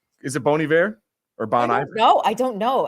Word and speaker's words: Bon Iver: say Bon ior but Bon sounds like fancy in French bon bon bon yeah I'm right don't